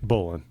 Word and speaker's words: Bolan: Bolan. Bolan. Yeah, I'm pretty sure. I actually It looks like it, but I didn't know. Yeah. Mark Bolan and then Mickey Finn.